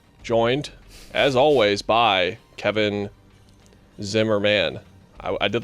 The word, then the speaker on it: Zimmerman: Your name is pronounced Zimmerman, by the way.